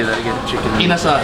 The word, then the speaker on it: Inasal: Inasal. Inasal.